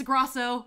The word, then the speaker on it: Grosso: You see, Lorenzo, you spelled my name phonetically right because you spelled it Grosso, and it is pronounced that, but it's spelled like Grosso. But don't ever say that. She'll claw your eyes out. As a kid, I always preemptively was like, it's Grosso, like before they even called